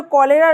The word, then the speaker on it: cholerae: Causative organism क्या है कॉलेरा के लिए? इसका नाम है vibrio कॉलेरी, VIBRIOCHOLERAE, vibrio कॉलेरी। ये कॉलेरी या कॉलेरा सेम प्रोनाउंसिएशन है, ये सेम स्पेलिंग भी है।